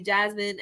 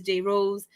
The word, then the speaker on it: JRose: because I hate when people call me Jasmine and I'm like no it's Jay Rose don't think just because